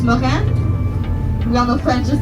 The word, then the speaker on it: moraine: now marine is a fancy fancy french word pronounced mojan we all know french is the language of